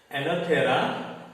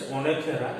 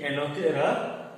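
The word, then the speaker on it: Oenothera: He identified Enothera lamarckii. O is silent. Some people will pronounce Onothera. It's not like that. E, Enothera lamarckii.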